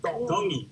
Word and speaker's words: Tongi: Iam Tongi. Tongi. You pronounce the T's like a D in the Tongi culture.